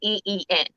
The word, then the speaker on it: Yin: Yin? Yin, yeah, Yeen, Mm-hmm.